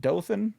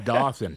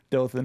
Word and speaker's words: Dothan: And what's is it Dothan? That's right. You pronounced it correctly. That's That's amazing. I Yeah, I was hoping it wasn't Dothan, but yeah. See, I always hear Dolan.